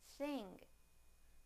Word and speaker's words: thing: Now the ng sound in the word thing, thing, thing.